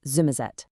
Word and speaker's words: Somerset: And a really classic feature is how an S can turn into a Z sound, which is how you get the famous pronunciation of Somerset as Zummerzet.